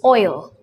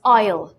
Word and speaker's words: oil: example is a word oil well the correct pronunciation for the word oil is oil if you go to Tamil Nadu or if you you might come across some people pronouncing it as aisle which is wrong they tend to use aisle